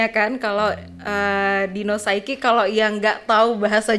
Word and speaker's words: Dino Saiki: Kalau dari bahasa Jawa sendiri itu agak medok dia Dino Saiki. Cuman biasanya kalau saya perkenalan gitu, saya biasanya Dino Saiki gitu Kak.